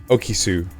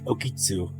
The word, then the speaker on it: Okitsu: And M, voiced by Kazuyuki Okisu. Okisu? Good enough. Do you pronounce the T? Yeah, you kind of. It's It's like a very hard S, very okitsu.